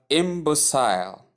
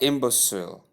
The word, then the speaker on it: imbecile: Number nine, we have imbecile or imbecile. It all depends on the word I mean on the pronunciation you prefer. The two pronunciations here are correct.